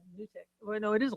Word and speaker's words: NuTyX: So because it's NUTYX. So I thought Nudie or Nutty X. uh, But Well, yeah, it's not but long U. I think it's it's Nutix.